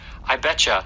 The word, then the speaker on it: I bet you: And we often will pronounce this as I betcha.